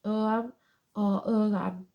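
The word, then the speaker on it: Ogham: shows the symbol called uram pronounced Oram which is early form of Irish writing placed around concentric circles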